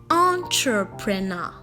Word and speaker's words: entrepreneur: wrong listen attentively okay the word is rightfully pronounced entrepreneur now see it's not ta it is foreign it's the ER sound so yeah entrepreneur all